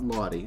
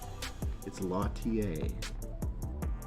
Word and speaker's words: Lattier: of Ron Kwok um talking to latier International that that is how it's pronounced it's not Lottie I thought it was Lottie lattier anyway this is a